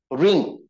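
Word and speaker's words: wring: this is something called ring it is there on your screen and be careful while trying to pronounce the word the word the first letter of the word something called W remains silent okay so this is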